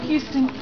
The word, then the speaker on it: Houston: He's such a Texan that he doesn't even pronounce the H in Houston. He doesn't. Yeah. He's from Houston.